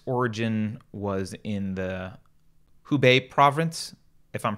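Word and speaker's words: Hubei: called kovat 19 its origin was in the who Bay Province if I'm pronouncing that correctly yeah that's correct in our sir that's the province who Bay and the city is Wuhan and the first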